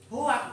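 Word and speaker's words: hoaks: Karena hoak, bukan ahok, hoak itu bacanya hoak.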